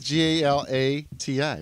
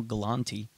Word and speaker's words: Galati: It is Galati, right? Yeah, Galati, you're fine. Galati. Okay. Keep telling me that, all right? You're putting an N. There's no Galanti.